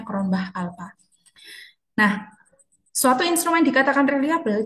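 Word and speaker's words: Cronbach alpha: Kalau diuji relabilitas kita melihat em nilai Cronbah alpa atau Crownbch alpha ya bacanya kronbah alpa.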